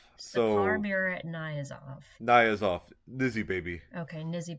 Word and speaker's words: Saparmurat Niyazov: Sapar Saparmurat Niyazov. So Saparmurat Niyazov.